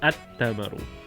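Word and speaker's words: التمر: So that's ta is a sun letter, because the sun is bright and obvious, which makes the lam disappear. So at tamaru.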